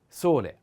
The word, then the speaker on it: sole: wind the next sole sole the accent is on o solei is a masculine